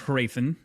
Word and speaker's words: Hrathen: I overpronounce the H. I think it's like a subtle H, like a Hrathen. Like it's very subtle, but it's there. It's not completely silent. I want to say the audiobook like even overpronounces the inner vowels, and it's like Raytheon almost. I think it's Hrathen.